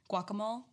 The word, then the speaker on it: guacamole: Guacamole. Guacamole, like whack-a-mole.